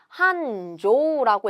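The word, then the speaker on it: 繁盛: 번성, 번창을 뜻하고 한조라고 읽게 됩니다. 조라고 읽어요.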